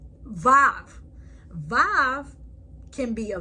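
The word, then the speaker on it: וו: Vav. Vav can be a V, O, or U. Vav can be pronounced like a V in victory, the O in home, the U sound in U.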